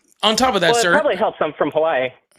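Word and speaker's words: Hawaiʻi: normally pronounce it as havi with like a V instead of a W?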